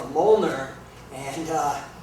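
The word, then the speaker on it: Mjölnir: is uh called a Moler and uh it's spelled very weird it doesn't uh it's not fonetic it's MJ o l l n i r and it's uh it's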